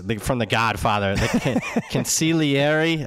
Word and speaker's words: consigliere: It's from The Godfather, the consigliere. I know the G is silent.